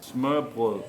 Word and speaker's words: Smørrebrød: - Smørrebrød. - Again, please? - Smuh-bleh.